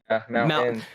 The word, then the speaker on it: mountain: Mountain. Okay, I'm sorry. Now I gotta go to like a speech class. It's mountain. Pronounce the T.